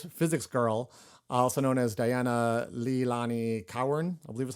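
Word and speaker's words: Dianna Leilani Cowern: from the fabulous physics girl also known as Diana Leilani Cowan, I believe is how you say her name.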